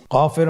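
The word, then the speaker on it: كاف: নম্বর হরফটির নাম কাফ কাফ উচ্চারণের ক্ষেত্রে অবশ্যই পাতলা করে উচ্চারণ করতে হবে এবং তিন আলিফ টেনে পড়তে হবে।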